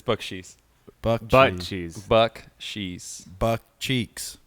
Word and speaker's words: Bakchis: Hodgkiss, how do you say it? Very close, but it's Bakchis.